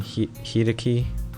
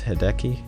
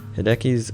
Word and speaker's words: Hideki: Someone said I was saying Hideki, and it's Hideki, I guess.